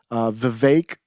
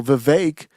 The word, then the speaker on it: Vivek: Vivek, I think his name should rhyme with cake, is what I'm hearing.